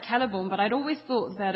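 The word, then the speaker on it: Celeborn: of strange to me all the c's are supposed to be pronounced it was weird i never thought that well i i i was fine with like keller born but i'd always thought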